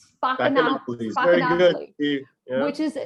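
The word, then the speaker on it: Spaccanapoli: It's pronounced, let me see if I can say it right. Spacanopolis.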